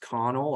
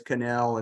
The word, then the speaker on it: Connell: Evan s Canal so you're probably looking at uh that name and thinking that it's pronounced Connell I I would assume that too that in fact his family use a pronunciation so it's canel and then Daniel Woodrow